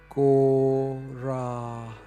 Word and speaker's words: Gauranga: Those of you who are new, Gauranga has 4 syllables. Gauranga.